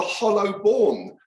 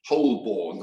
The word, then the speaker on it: Holborn: because of the the hollow born down by the river Fleet well that was last year when we realized for all these years I've been saying whole born I mean I've been mispronouncing it so I'll try and